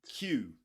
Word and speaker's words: queue: Q Q just like the letter Q.